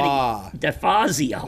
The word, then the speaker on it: DeFazio: It's close. There's an ah in it. Well, say it. DeFazio.